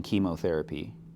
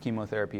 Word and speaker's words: chemotherapy: This is the same sound as in chemotherapy. Hopefully you know that it's pronounced chemotherapy and not chemotherapy.